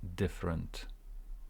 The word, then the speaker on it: different: a different different so different uh e here different stress on the first part there is no um e here different different different breed of people breed